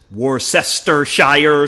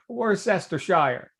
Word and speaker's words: Worcestershire: For example, when library is pronounced library. Yeah, John, if Yeah. anyone on this call ever says Worcestershire sauce, Yeah, right. you cannot be my friend. That's right. Worcestershire.